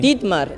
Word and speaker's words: Dietmar: Dietmar, is that how German, I pronounce it? Absolutely right, it's German.